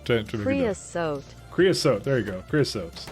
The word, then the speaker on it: creosote: Creosote.